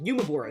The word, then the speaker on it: UMEBURA: UMEBURA is how you pronounce it.